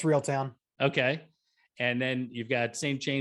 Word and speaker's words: Reeltown: It's Reeltown.